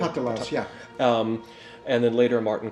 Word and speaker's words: Patalas: With this process, there was a 30-year sequence of time in which people like Enno Patalas, am I pronouncing that correctly? Patalas, yeah.